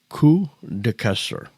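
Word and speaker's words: Queues de Castor: But there was a place called, and I'll have to spell it for you, but the pronunciation is Kuster, which in French means beaver tales, and is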